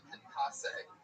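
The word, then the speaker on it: concassé: Concasse. Alright, I'm going to take it from the top. Steak and blue pizzas with a balsamic marinated steak. Gorgonzola blue cheese. Crushed tomato concasse.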